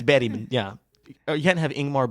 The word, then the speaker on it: Bergman: Is that how they say it? That's how they say it. It's Bergman.